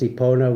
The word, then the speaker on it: Epona: Epona, pronounced Epona, was said to be the offspring of a mare and a mortal king.